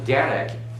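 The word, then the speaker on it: דֶּרֶךְ: That's because derek is pronounced with an emphasis on the first syllable.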